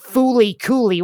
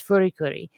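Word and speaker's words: フリクリ: It's not Fooly Cooly. What the fuck? Yeah, FLCL. I don't even know how they want that one pronounced, but in Japanese, it's Furikuri.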